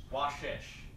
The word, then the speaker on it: Vashisht: There's like a T at the end.